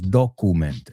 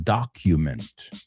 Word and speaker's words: document: No, porque claro, la U, vosotros queréis decirlo a la española. Entonces decís document, and it's document.